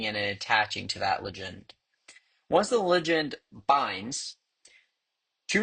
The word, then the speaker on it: ligand: all my research, I believe the correct correct pronunciation is ligand.